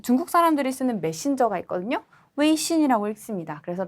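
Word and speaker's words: 微信: 웨이신이라고 읽습니다.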